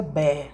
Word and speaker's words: Barr: A gente pronuncia Be, né? Então é corpúsculo de Be.